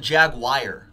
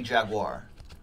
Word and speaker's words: Jaguar: guar or is it jagwire I hear people saying both it's got to be Jaguar it feels weird when people say jagwire it sounded jagwire right it's a Jaguar how do you say